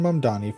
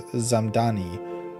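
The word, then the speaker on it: Mamdani: Zoran Mdani, New York City mayoral candidate, clapped back after the White House mispronounced his name as Zamani in a viral Tik Tok set to hollowback girl.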